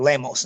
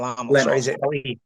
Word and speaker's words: Lemos: My my question, Tommy, is though at this point is is Lamos as I think you pronounce it Lemos, not Lamos.